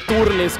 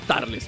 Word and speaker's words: Turles: est esperando tarles o turles como ustedes le quieran decir aquí en Latinoamérica se llama tarles bueno se pronuncia como una a la u no como cuando dices Up en vez de Up algo parecido no son cuestiones